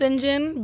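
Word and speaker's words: St. John: Yeah, There- it's pronounced Sinjon, but Okay.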